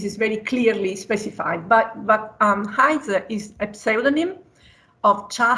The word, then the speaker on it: Haizi: Is pronounced like Haizi.